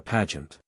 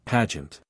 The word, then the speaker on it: pageant: like Barry or a pageant he pronounced it pageant he rhymed pag with rag Carol nodded in the